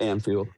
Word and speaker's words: Anfield: We're with uh going to Onfield Anfield? Is that how you say it? I don't know. Yeah, Anfield.